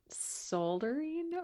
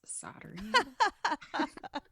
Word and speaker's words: soldering: soldering wasn't it and I pronounced it solding or like soldiering I just stumbled over it because that's a hard word for me and Tony was like Mom it's soldering how about your kids